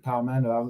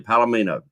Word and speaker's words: Palmetto: I said it wrong. Yeah, that's it, man. I got correcting everybody on there. At night, I could not say his name right for nothing. I don't know what it was that night on the show. I kept saying Palomino.